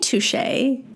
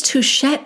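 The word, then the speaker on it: touché: T at the end like you know how some French words have a t at the end that you don't pronounce but touche is not one of them t o u c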